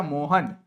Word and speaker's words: विसर्ग: इसको हम लोग यह जो है प्यारे बच्चों यह जो ऐसे दिख रहा है ना इसको विसर्ग कहा जाता है जिसका उच्चारण ह होता है। जैसे ये राम लिखा है लेकिन राम